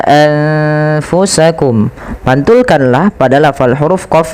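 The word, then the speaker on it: أنفسكم: Nah, pada lafal anfusakum ini sama membacanya ketika ia ikhfa dengan dengan ketika ada nun sukun bertemu dengan ta, maka samarkan nunnya kepada huruf fa.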